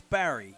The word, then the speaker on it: barre: didn't know how to I still don't want to call it bar it's bar stainless bar it's a bar work it has an R and E on the end we even tell our